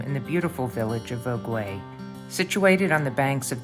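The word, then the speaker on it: Vogüé: The name of the town you have taught me is Vogue. Vogue. Spelled like the magazine, but nothing to do with it.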